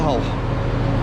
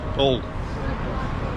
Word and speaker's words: Hull: Hull Paragon Interchange, better known as Hull, and better known by the locals just as Hull. They don't really pronounce the H, it's a Yorkshire thing, I get it, don't worry.